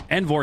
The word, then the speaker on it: Envor: For anyone wondering why we pronounced it as Envor, Envor himself said it was Envor. So I know everyone probably used to hearing Envor, but when the player himself tells us how to pronounce his name, we got to go with that.